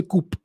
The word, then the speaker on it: coupe: So in French, you say coup, you don't say coupe. But yeah, if you were to go with the British pronunciation, it should be coupe.